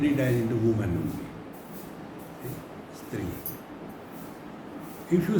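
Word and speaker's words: स्त्री: Stree. If you spell Stree in English, how will you spell it? S-T-R-I, is it not? If you are from UP, you will say Istri.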